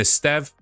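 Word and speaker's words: Estève: and Eststev, that's how you pronounce it, of Burnley.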